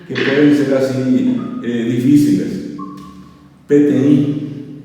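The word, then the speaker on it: peteĩ: PTI, y se escribe P-E-T-E-I nasal. PTI, así como escuchan, sin uso, pero con la I nasal.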